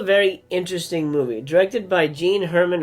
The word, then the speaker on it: Jean Herman: interesting movie directed by gene hermann or jean hermann i guess is how you would pronounce it in french starring alain delon and